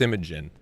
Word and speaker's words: Imogen: It's like Imogen or something. It's like, yeah, I think it's Imogen. It's like Imagine, but it's Imogen. Very strange.